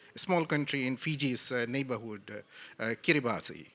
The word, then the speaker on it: Kiribati: A small country in Fiji's neighborhood, Kiribati, pronounced, has set aside 500,000 square miles of its ocean for highly marine protected area.